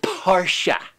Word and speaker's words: Porsche: the next one is it's a German word it must be pronounced parsha now those type are